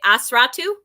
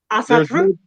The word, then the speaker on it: Asatru: There is a difference between the now as I can say it right 12 times and then not say Asratu. Asatru.